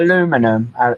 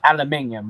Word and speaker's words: aluminium: They just pronounce it different. Say it How different. about aluminum? It's aluminium, we call it.